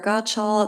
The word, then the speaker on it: Gotschall: Hello, I'm Gottschall. It's spelled Gotschall.